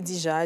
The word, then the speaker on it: Deeja: Donc, je vais utiliser ce côté-là de Kadija pour m'appeler Dija, mais j'ai juste changé la façon dont ça s'écrit. Ouais. Au lieu de D-I-J-A, j'ai mis D-2-E-J-A pour styliser ça un peu.